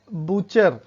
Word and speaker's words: butcher: तो silent letter T देखिए। टी के लिए जैसे बूचर, BUTCHER, बूचर।